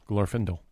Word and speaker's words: Glorfindel: Glorfindel is the character. Glorfindel. Or Glorfindel, depending on who you are and how you say it.